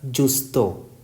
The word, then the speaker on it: giusto: It contains GIU, so it is pronounced as Justo.